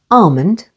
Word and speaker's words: almond: pronounced with the l L is also silent before M as in the words Armond with the stress on the first syllable almond calm and palm n